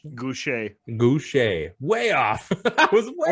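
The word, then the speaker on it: Gausha: And number 14, which you were the only one who had him ranked, was Terrell Gusha. That was not how I say his name. What? Goucher.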